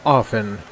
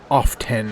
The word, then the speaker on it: often: is necessary yeah a you don't pronounce the T in the word often it's often not often you don't say kif